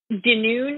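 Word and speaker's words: Dunoon: that a little bit cp is is called denune is that how you pronounce it yep that is the that is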